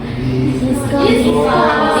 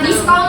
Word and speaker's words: discount: Discount. Discount. Discount. Bukan diskon ya. Bukan diskon tapi discount. Discount. Jadi belakangnya MT discount.